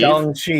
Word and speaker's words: Shang-Chi: The first Steve Mitchum comment where he says the A in Shang-Chi is pronounced like the O in top.